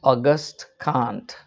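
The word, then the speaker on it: Auguste Comte: uh none other than the great French philosopher August Kant, A U G U S T E C O M T E pronounced August Kant said that the Catholic Church should not be considered a church.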